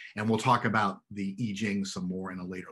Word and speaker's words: I Ching: changes um the jing sometimes people pronounce that in english as i ching the pronunciation's wrong but you might have